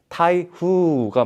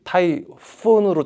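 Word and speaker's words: 台風: 그 태풍 태풍을 타이푸이라 그러는데 그것도 원래 대풍이라고 써 가지고 타이후가 맞는데 그거를 어 미국 사람들이 타이폰으로 잘못 알고 그래 가지고 약간 그죠 재밌어.이 언어라는게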